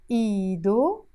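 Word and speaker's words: إيدو: Iido, his hand. This ha is silent, as we said.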